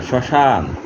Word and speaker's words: শ্মশান: শ্মশান, তালিব্যাস মফলা তালিব্যাস একাদন্ত শ্মশান। এখানে প্রথম বর্ণটির উচ্চারণ একটু নাসিক্যর দিকে যাবে, শ্মশান অর্থাৎ সানুনাসিক হয়।